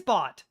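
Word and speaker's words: baht: I have no idea what 3,890 bot translates as in Thailand currency. I'm pretty sure it's bot. That's how it's pronounced.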